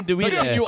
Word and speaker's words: andouille: Andouille. Andouille. Andouille. Andouille. I will give you points for that. Can you Andouille.